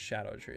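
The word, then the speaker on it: Scadutree: more close to the it's actually pronounced Shadow tree isn't it probably a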